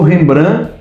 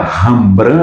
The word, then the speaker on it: Rembrandt: Aí ficou rembran n nd n ndtembrante ou remembrandite e a pronúncia agora vamos botar a pronúncia rambran, a pronúncia sofisticada, né? Tudo bem. Só que um chamava Rembran, outro Rambran, Rembran, Rambran.